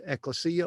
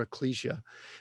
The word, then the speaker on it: ecclesia: was the word, and it's pronounced, I've heard it different ways, ecclesia or ecclesia, which is the word